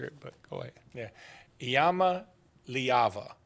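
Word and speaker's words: Iamaleava: but go ahead yeah Yama leava that's how you say it and he did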